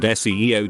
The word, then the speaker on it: SEO: Both are initialisms, so you pronounce each letter as in SEEM and SEO, just like the CIA isn't pronounced Kia but CIA.